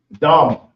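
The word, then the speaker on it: דם: that inside our bodies blood and blood is Dum it's the da and then the ma but it's pronounced together so it would be D so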